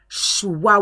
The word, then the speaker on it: choix: Choix, wa, wa, wa, wa.